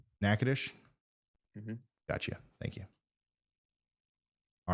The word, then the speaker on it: Natchitoches: can somebody send me the proper pronunciation for Natchitoches Natchitoches yeah right it's nakadish nakadish gotcha thank you all